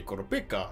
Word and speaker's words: Kurapika: They say Kurapika. They don't even like put that there's like an I somewhere in there. So, and I try to say Kurapika or Kurapaka. Anyway, Kurapika and the rest of